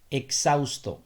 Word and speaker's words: exhausto: यहाँ पे आपने ये ऐसे प्रोनाउंस करना है कि एच यहाँ पे है ही नहीं, exhausto।